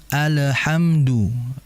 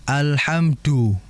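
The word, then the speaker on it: الحمدُ: cara bacanya orang Arab maka dijelaskan Dal alhamdu du du ya jangan alhamdu E ini medok ya Kalau bahasa kitanya nah itu yang harus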